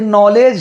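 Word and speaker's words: knowledge: है, तो वहां पर अधिकतर हम के का प्रोनाउंसिएशन नहीं करते हैं। जैसे यहां देख लीजिए दोस्तों, ये नॉलेज है, तो नॉलेज के बाद क्या आ रहा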